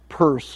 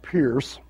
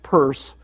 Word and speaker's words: Peirce: sanders purse pronounced at purse not pierce i think i spelled